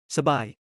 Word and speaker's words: สบาย: The word for comfortable สบาย keeps its proper tones because both syllables are stressed.